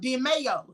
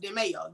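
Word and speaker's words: DeMeo: Yes, it's called DeMayo. D-E-M-E-O, but it's pronounced DeMayo. Yes, DeMayo crew.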